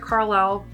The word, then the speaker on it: Carle: Now this book is built around the Eric Carle, I always say it wrong, it's Carl, but Eric Carle Museum of Picture Book Art.